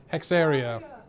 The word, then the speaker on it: Hexaria: creator of this game trying to tell me how to say it hex e is how he sent it to me hexaria areia uh so that was from K's mouth himself I trust him there